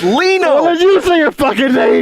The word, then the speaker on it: Lino: you know do it go with mondo and leno you've been listening to you say my name right it's that little it's lino okay I'm here with mando and Leena how